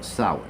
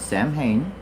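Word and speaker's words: Samhain: seeing this word for the first time is pronounced sour. Okay, it's not Sam Hayne.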